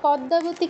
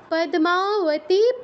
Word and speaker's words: পদ্মাবতী: যাচ্ছি 37 কি আছে পদ্মাবতী কেউ বলবো না পদ্মা দ এর সাথে মটা উচ্চারণ করতে হবে দয় বসন্ত